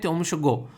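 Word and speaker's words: Tsomgo: को पता होना चाहिए यहां पर इसको बोलते हैं टॉम सुवो ये क्या है ये लेख है यहां पर तो एक तरीके से सोम को लेक भी बोल सकते हैं टी को कई बार साइलेंट बोल देते हैं ठीक है नेक्स्ट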